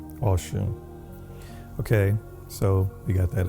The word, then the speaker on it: Ọ̀ṣun: Yoruba is kind of pronounced aw instead of O. Instead of Oshun, it's Aw- Awshun. So, Awshun.